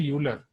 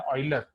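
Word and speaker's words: Euler: तो इनको इंडिया में इनका प्रोनाउंसिएशन है यूलर, राइट। इंडियन टीचर्स जो भी हैं, इंडियन स्टूडेंट्स जो भी हैं, वो इन्हें यूलर बोलते हैं। जो फॉरेन टीचर, फॉरेन स्टूडेंट्स या फॉरेन वीडियोस अगर आप इन पे देखो, तो उनमें इनका प्रोनाउंसिएशन है ऑयलर, राइट। इन्हें ऑयलर बोला जाता है। तो both are same name only, right. ऑयलर एंड यूलर, just pronunciation अलग है, सिंगल पर्सन ओनली, राइट।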